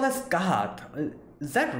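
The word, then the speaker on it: Scáthach: What's the actual pronunciation? Skasaha.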